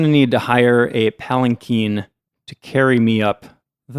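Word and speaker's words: palanquin: palen before I think last time I said palen Quinn or palankin or something I looked it up this time so I knew how to pronounce it palen Keen is apparently the correct pronunciation okay but it's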